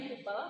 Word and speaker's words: Koepel: Jadi gedung ini sendiri namanya, kalau panggilan kesayangannya adalah gedung kupel atau tulisannya KOEPEL. Bacanya kupel karena dari bahasa Belanda.